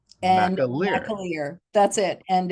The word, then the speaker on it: McAlear: the correct pronunciation is think of a Mac Truck and a Lear Jet and Ma Maier that's it and it's